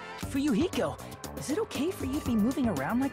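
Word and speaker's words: Fuyuhiko: last name is my first name is pronounced you I'm still an inexperienced member of my family's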